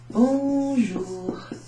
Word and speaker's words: bonjour: Bonjour. Bonjour. Bonjour. Ou. Only U makes an OO sound.